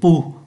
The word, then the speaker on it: pouls: Ở đây chúng ta thấy là P-O-U-L-S, nhưng mà chỉ phát âm là P-O-U, là pu.